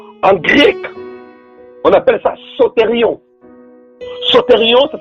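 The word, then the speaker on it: σωτήριον: Donc, le premier salut-là, et ce salut-là, en grec, on appelle ça sotérion. Sotérion, ça s'écrit S-O-T-E-R-I-O-N.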